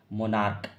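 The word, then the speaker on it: monarch: का ठीक है ना कहता है सिंगुलर कॉमन नाउन का लास्ट लेटर सीच देखो इसका लास्ट लेटर क्या है सीच है और इसका उच्चारण क्या आना चाहिए क का तो इसको क्या पढ़ेंगे मोनार्क मोनार्क क्या पढ़ेंगे मोनार्क तो मोनार्क अतिम में उच्चारण जो हमने किया लास्ट में किससे सी एच का उच्चारण किससे कर रहा हूं मैं क का उच्चारण कर रहा हूं तो इसका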